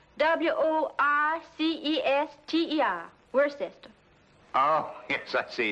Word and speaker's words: Worcester: The Earl of Worcester.